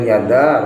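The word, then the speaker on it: يدا: Kemudian yada harus dibaca panjang.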